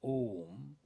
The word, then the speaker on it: Om: So Auma, Om, which is we pronounce as Om sometimes, that is also known as Brahman.